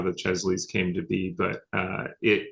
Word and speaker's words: Chesley: What's a Chelsea award? So, Chesley, Oh, Chesley, sorry.